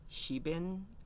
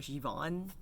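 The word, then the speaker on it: Siobhan: to say ron but it's s-i-o-b-h-a-n which i believe is an irish name and i think it's pronounced shebin or shivan correct me from ron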